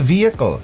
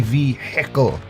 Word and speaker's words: vehicle: a crime's been committed why do some americans pronounce the h it's silent it's a vehicle there's no heckle or is it only hex that say v heckle that would make sense